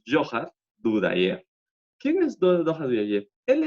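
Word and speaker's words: Dzhokhar Dudayev: El líder del movimiento checheno es Johar, bueno, estos de Zohar que ven acá, se pronuncia Johar Dudayev.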